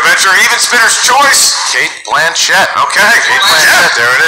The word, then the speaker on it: Blanchett: I know it's pronounced Blanchett. Ooh. Oh. She said so on Ellen.